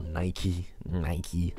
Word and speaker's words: Nike: So obviously you can see right here they look good on a good pair of Nike trainers, or Nike as Americans say, and yeah, it basically keeps it tight as well, makes sure it doesn't fall off.